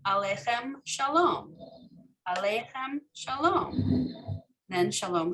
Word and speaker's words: aleichem: So the question is right, is the proper pronunciation of this aleichem or aleichem? I think the proper pronunciation is aleichem. So, but when we sing it, shalom aleichem, so we do put the longer, right, in the center.